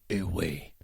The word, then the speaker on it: ooey: That is OOOWEEE. Pronounced ooh-wee.